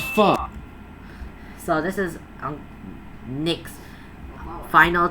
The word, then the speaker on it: pho: It's not pho, it's pho. It's as if you're saying but you remove the K.